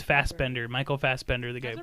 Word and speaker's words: Fassbender: the burger but sure he's pronounced it wrong yeah that's Banshee we're just screaming okay the screaming kid that's banshee yeah yeah yeah his name is Fassbender Michael Fassbender the guy